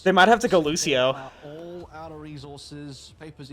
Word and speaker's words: Lucio: might have to go Lucio all out of resources papers even on the looser now and I'll say yeah they went Lucio oh no don't call him Lucia sorry STP they're gonna